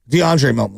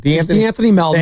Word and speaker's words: DeAnthony Melton: you know, look, everyone say Joe, they had DeAnthony Melton, DeAndre Melton, whatever. I always say it wrong. What is it? The Anthony Melvin.